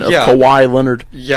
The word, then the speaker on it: Kawhi: Kawhi Leonard. Yeah, How do that you was say his name? Kawhi Kawhi? Leonard. You said Cowie Leonard.